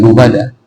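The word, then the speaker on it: لُبَدًا: yaitu qiraah Abu Jafar dibacanya bukan lubada akan tetapi dibacanya itu ada lubbada nanti Bapak Ibu kalau seandainya mendengarkan Imam membacakan lubbada jangan dikoreksi n karena apa karena boleh bacaan lubbada ya karena ada sebagian orang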